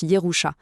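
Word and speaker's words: ירושה: D'un côté, on a la Yerusha, ça se prononce Yerusha, c'est l'héritage.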